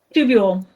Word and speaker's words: tubule: Professor, how do you pronounce the second one? Renal, the one that starts with a T? Tubule. Tubulo?